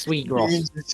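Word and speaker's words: Je suis gros: Yeah, it's just sweet gross. I don't No, even think you pronounce the S actually. It's sweet gross.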